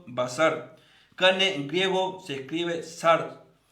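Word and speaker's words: בשר: nombre de dios cannes en hebreo se active se pronuncia basar carne diego se escribe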